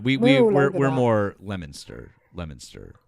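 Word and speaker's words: Leominster: Lemonster uh is more us. But anyways, at least we're at least we're like way more on the same page than anyone else in the country who would see that word and go Leo minster. Um, and just be entirely wrong.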